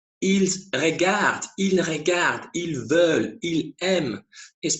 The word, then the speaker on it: ils regardent: They pronounce, for instance, ils regardent, ils regardent. And of course, that is huge implications for learning. Because if you keep having the impression that they watch, ils regardent is pronounced ils regardons, when you hear it,